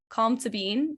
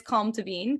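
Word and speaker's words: Colm Tóibín: author of brooklyn the book his it's a calm to bean as i believe how it's pronounced but it's spelled like calm tobin kind of but it's calm to bean because it's like irish gaelic i think or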